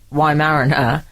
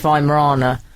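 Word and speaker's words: Weimaraner: I pronounced the dog I called it a why Mariner and apparently it's V Morana and Frank I mean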